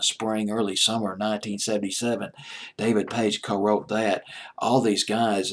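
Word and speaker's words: Paich: it was pronounced it's David page so i pronouncing this page i thought it was like patch or something like that but it's page i guess anyway david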